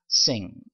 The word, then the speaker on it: sing: 그래서 sing 이렇게 발음을 했고요.